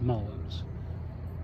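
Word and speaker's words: mullein: okay well this particular plant right here is Mullins that's where it's pronounced Mullins and it is uh mature now there's one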